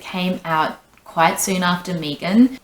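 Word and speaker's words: M3GAN: out quite soon after Megan, or Megan as the Americans say, even though Megan makes more sense as a pronunciation because you say 3 and she's got a 3 in her name.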